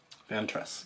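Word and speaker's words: Vantress: Ventress, yes, I pronounced that right.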